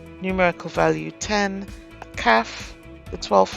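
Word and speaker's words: כ: Kaf, with spelt K-H-A-F, is the 13th letter. It is the same as kaf without the dagesh, pronounced with a KH, as in bark.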